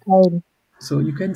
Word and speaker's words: Teil: Tile. Teil. So you can say tile, but I think when we talk about salary, we call it untile, but tile is still fine now. Anteil. So tile is also or untile, doesn't matter.